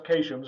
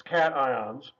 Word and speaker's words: cations: ions which are called cations not to be pronounced occations it looks like it should be said occasions its cations that's there's some positive ones which is to